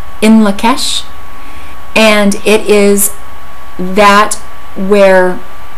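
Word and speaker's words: In Lak'ech: I believe it is Turkish, and it is pronounced in Lakesh, and it is that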